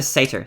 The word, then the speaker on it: satyr: Satyr? I'm gonna say satyr. Satyr. It's Satyr. Satyr, okay. I was saying satyr like satirical, but that's... I didn't feel right.